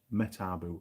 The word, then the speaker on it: Metabo: choice that and uh metabo or metaboo depending on how you pronounce it alan cook have